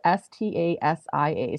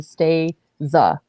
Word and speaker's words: Stasia: first name is spelt s-t-a-s-i-a so it's not pronounced like stasia like i thought it's actually stay za so and her pronouns